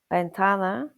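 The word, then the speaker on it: ventana: Examples are baso meaning glass, bentana meaning window, and bino meaning wine. So, baso, bentana, vino, and that's the letter ube which is often pronounced as a b in Spanish.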